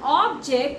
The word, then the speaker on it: object: If you are reading about an object, you have to pronounce it as object, not object.